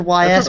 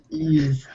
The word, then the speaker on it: Ys: go the uh oh I forgotten how to pronounce this I said Ys before but that's wrongar e ease ease weird ease um yeah